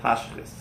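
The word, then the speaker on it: תשחית: Okay, But Baal Tashchis means do not waste.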